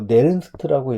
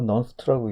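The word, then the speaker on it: Nernst: 이게 바로 그 유명한 페라데이의 법칙이라고 얘기하고, 그 다음에 19세기에 넌스트라는 사람이 뭐 네른스트라고 읽기도 하고 넌스트라고 읽기도 하는데, 좀 미국식으로 보면 넌스트라는 사람도 있습니다.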